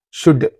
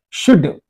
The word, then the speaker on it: should: Should. Sh is okay. U, okay. D, okay. Should. You are not pronouncing this O. You are not pronouncing this L.